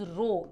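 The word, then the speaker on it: ρ: Means density का shortcut to write down is रो इसको कहते हैं रो आर एच ओ आपको पूरे स्पेलिंग लिखने की जरूरत नहीं है यू can just make this symbol जिसको हम रो कहते हैं।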